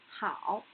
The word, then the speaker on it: 好: This 和 is initial, 凹 is final, and the tone is a third tone. So, the pronunciation of this character is 好, 好.